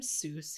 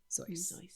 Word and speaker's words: Seuss: You're wrong as the deuce, and you shouldn't rejoice. You're calling him Seuss. He pronounces it Seuss.